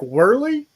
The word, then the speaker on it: Wehrley: mess up your name i i suck at pronunciations but derek whirly hey you got it you got it you